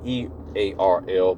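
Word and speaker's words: IRRRL: r r r l call it the Earl program um not the e a r l but the i r r l and they pronounce it Earl and they're allowing vest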